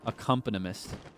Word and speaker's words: accompanist: Accompanist. Thank you. I knew it was accompanist in my brain, but my heart was like, "No, Kaix, there's another syllable in there." Accompanist.